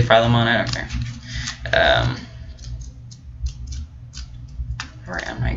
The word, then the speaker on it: Philemon: with the pronunciation here as far as my understanding it's feel em on I could be wrong